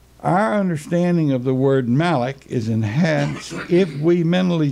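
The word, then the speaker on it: מלאך: It is the word malak, pronounced as if it were spelled M-A-L-A-W-K.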